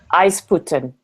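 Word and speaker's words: Aizpute: And then in Latvia, we're going to, and Igars, you could probably, well, you obviously would know how to pronounce this, Aisput? Aisputen, okay.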